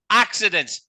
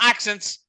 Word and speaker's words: accidents: Accidents. Not accents. Accidents. There's like. I said accidents. Yeah. There's another syllable in there to leave it out.